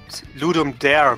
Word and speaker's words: Ludum Dare: it's it's really um you pronounce it ludum dare basically because dare is to give and ludum is get game so it's basically what